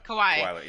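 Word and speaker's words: Kawhi: since um i was i never kind of pronounced his name kwai yeah kawaii yeah after kai just like just killed us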